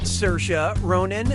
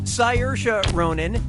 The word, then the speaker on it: Saoirse: Brooklyn yeah sure you do how do you pronounce her name Saoirse Ronan Saoirse Ronan say yours Ronan or see our eyes Ronan